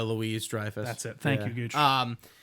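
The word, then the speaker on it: Louis-Dreyfus: Jo Julie Lou Drifus. That's terrible. I did not say her name right. But it's uh Julia Louise Drifus.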